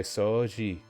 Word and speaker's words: 掃除: I feel like whenever there's a U and an O next to each other, they just want you to pronounce the O longer. And they just do that instead of writing a little, a mini su or whatever.